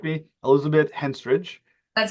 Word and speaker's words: Henstridge: it's directed by, again, if I get the name wrong, please correct me, Elizabeth Henstridge.